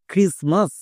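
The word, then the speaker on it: Christmas: যেমন আরেকটি ওয়ার্ড দেখো, ক্রিসমাস। এই ওয়ার্ডটি সবারই পরিচিত ওয়ার্ড, বাট একে অনেকেই ভুলভাল উচ্চারণ করছো এবং লিখতে গিয়েও ভুল করছো। ভুলটা হচ্ছে এই টি এর জায়গায়, কারণ টি এখানে সাইলেন্ট থাকছে।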